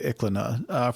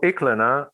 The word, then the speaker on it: Iklaina: Well, let's talk about your work at ICLNA. For the listeners, can you please summarize what you're doing there and why it's important today? Sure. So ICLNA, and it's spelled IKLAINA, is an ancient Greek site of the Bronze Age.